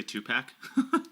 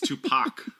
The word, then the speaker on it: Tupac: Did you just say two-pack? What am I supposed to call him? Double pack or? It's Tupac. Pac.